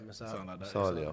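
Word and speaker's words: Musiala: Musalia. Is that how you say his name? Yeah, Musalia.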